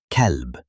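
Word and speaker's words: كلب: For example, kelb, which in English means dog, compared to qalb, which in English means heart. One small sound changes everything.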